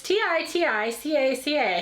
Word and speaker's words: Titicaca: don't know that sounds so wrong but it's t-i-t-i-c-a-c-a how do you say that peter titicaca sounds